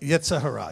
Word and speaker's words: Yetzer Hara: Yetzer Hara, is that how you say it? Yetzer Hara, yes.